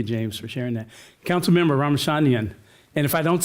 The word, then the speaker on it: Ramachandran: Councilmember Ramachandran. And if I don't say it right, you help me. That was very close. Ramachandran. Ramachandran, thank you.